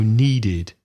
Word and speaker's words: needed: And need finishes with d, so needed.